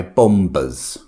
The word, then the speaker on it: bomber: And in bombber, we don't pronounce the B.